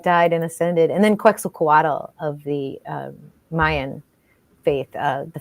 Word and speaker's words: Quetzalcoatl: So it's Quetzalcoatl, and the TL is kind of like you have a fat tongue. It's Quetzalcoatl. Quetzalcoatl.